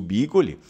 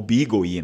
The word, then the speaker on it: bìgołi: Os vestígios históricos do bigoli, ou bigoli, né? Existem as duas possibilidades, porque existe a fórcula e tal. Quem é aluno de língua vêneta sabe. Então, existem as duas possibilidades de se pronunciar bigoli ou bigoli.